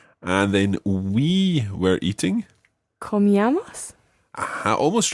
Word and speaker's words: comíamos: Comíamos? Aha, almost right. Just watch your stress here. The stress is on the I. So comíamos. Comíamos. Just like tomábamos.